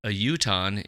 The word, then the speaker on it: Utahn: season of Fargo, and a Utah is one of the writers and producers. Is that how you say it, a Utah? That's what I'm assuming, yeah.